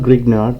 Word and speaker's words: Grignard: we will be doing the grignard reaction so it's spelled grignard but uh the actual pronunciation is grignard because